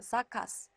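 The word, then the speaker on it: zakaz: 유성음이 왔기 때문에 유성음을 무성음화 시켜서 라스라고 발음하시면 된다는 법칙입니다. 마찬가지로요. 사카스, 금지라는 뜻의 단어도요.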